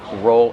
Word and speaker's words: roll: How do we pronounce roll out? Roll out. Use a long O like no and go.